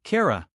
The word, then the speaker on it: Kira: I am Kira. She pronounced it with a slight trill. Cara.